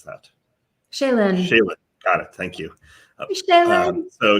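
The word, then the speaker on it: Chelyn: your name is uh c-h-e-l-y-n how would you pronounce that shaylan got it thank you so shaylan commented uh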